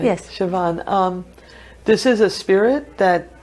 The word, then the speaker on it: Seabhean: hmm so the Siobhan yes I hope I'm pronouncing that right yes Siobhan this is a spirit that everybody can see